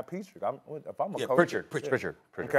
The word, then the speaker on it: Pritchard: They even put two on the ball with Petrick. If you see some of the highlights, they literally putting two on the ball with the guy Petrick. If I'm a coach. Pritchard.